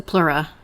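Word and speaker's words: pleura: imbalance which um is called how is it pronounced Jen the plura p l e a yeah plura we don't hear that often anymore the lung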